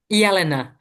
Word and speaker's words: Jelena: Jelena. It's like a Helena.